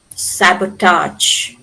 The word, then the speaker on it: sabotage: So here we pronounce the suffix suffix a g e as arch. Arch like in camouflage, garage, sabotage. It has retained the French pronunciation camouflage, garage or sabotage.